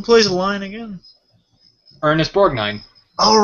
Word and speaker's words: Borgnine: How do you pronounce Mermaid Man's last name? Borgnine? I'm guessing it's Borgnine? Borgnine, yeah, that's it.